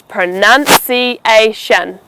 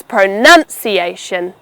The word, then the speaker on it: pronunciation: So for everyone listening, it's pronunciation. The nun will never be pronounced as noun. It's pronunciation.